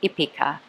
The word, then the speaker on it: Hípica: It is spelled Hipica, and when you say it in Spanish, you drop the H, so it is called Hípica. So we will talk about Hípica.